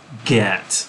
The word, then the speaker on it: get: And it was the first time in my life that I realized git is supposed to rhyme with set, bet, met. But I would never say get.